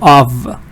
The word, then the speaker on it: of: careful for example here you see F but it's V hi sweet welcome so of of there's a short note